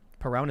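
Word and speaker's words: Perón: in the inflation ranking perron perron is how you say it yeah yeah yeah that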